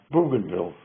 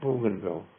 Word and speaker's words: Bougainville: How about Bougainville?